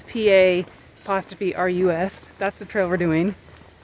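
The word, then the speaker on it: Pa'rus: We're doing, we don't know how to say it, Perus Trail, I don't know. Anyway, it's PA''RUS.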